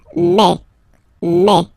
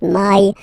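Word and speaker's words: mai: open E okay and then you pronounce it me okay so don't pronounce e don't try to pronounce it no it's me me so it's not my it's me okay and then here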